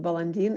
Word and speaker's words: Balandin: are people who have russian surnames like bolandin they pronounced balandin in my mother's home